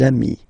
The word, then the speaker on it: amis: Okay, des amis. So ami, remember, doesn't change. Even if you get to write the S, then you don't pronounce it.